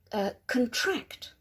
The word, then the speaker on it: contract: So stress on the second syllable.